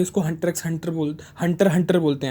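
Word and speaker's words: Hunter × Hunter: अब ये बहुत ज़रूरी है क्योंकि कई लोग इसको हंटर एक्स हंटर प्रोनाउंस करते हैं, लेकिन अगर आप इसकी ऑफिशियल प्रोनाउंसिएशन देखेंगे नेट पे तो इसको हंटर हंटर बोलते हैं, ना कि हंटर एक्स हंटर।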